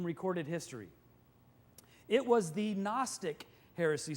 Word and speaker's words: Gnostic: history it was the Gnostic heresy spelled with a G in like the word goon osis in the Greek which means knowledge and